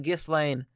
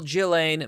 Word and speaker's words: Ghislaine: though i keep saying i keep saying gifts lame what a stupid name the s is silent evil jillaine maxwell uh assaulted her